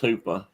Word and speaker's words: Hoopa: And I looked that up. It's pronounced Hoopa.